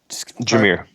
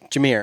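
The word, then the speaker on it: Jahmyr: I don't know how to pronounce Gibbs' first name. Jameer. Jameer.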